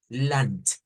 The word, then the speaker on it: Land: una a una n pero ahí vamos a hacer una t lant l dutch l dutch l o sea esta d se convierte en t Por qué quiero hacer